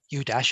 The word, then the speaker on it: UDASH: So the acronym UDASH, of course, it's pronounced UDASH, and it sort of plays off iPhone, U dash, except the focus is